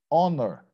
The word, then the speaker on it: honor: There are many words in English that, in spite of starting with the letter H, the H is silent, it's not pronounced. Like honor, like hour, air, honest man.